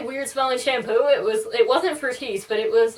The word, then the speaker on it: Fructis: to correct me because everybody knows it's pronounced Fructis. That's how it's spelled. That's how it's done on the commercials. And she stopped and she said, "Oh, honey, it's fructus."